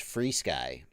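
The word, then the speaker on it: FrSky: Mike MC, it's pronounced FreeSky.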